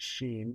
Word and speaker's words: Shein: Shein, by the way, I pronounce it Sheen because I envision Steen would shop at Shein, have not ordered there.